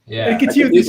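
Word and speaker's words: Architeuthis: Architeutis, okay. That's the right pronunciation.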